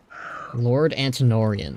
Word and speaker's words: Antonorian: Lord Antonorian. Okay, that's how you pronounce his name.